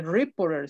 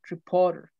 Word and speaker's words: reporter: O sea, así como ahorita ya sabes que no se dice reporter, sino reporter, reporter.